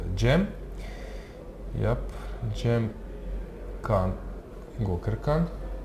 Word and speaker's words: Cem: Yeah, we got some nice tip that Göker Khan, his name is pronounced Gem.